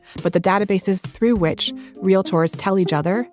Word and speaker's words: Realtor: you say it proper it's real tour not real Tor real tour two syllables not three okay very important extremely important